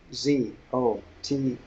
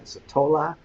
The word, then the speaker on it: Zottola: Glenn Zottola, Zott. I just mispronounced it again. Zottola, Zottola. Glenn, double N. Have I got it right?